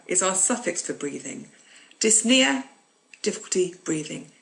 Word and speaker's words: dyspnea: have Nia meaning breathing dyspnea means difficulty breathing so Nia is our suffix for breathing dyspnea difficulty breathing you don't pronounce the P but in the next word you do so app near and